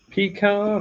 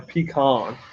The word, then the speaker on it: pecan: when i want it pecan or pecan depends on where you're from people call